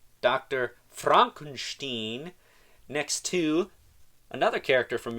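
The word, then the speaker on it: Fronkensteen: My name, it's pronounced Frankenstein. Right. Dr. Fronkunsteen, next to another character from Young Frankenstein, Igor.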